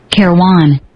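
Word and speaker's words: Kairouan: I think it's Kai Ruan. That's how I would pronounce it. But I learned that these foreign languages, I pronounce it all wrong all the time. Kairwan.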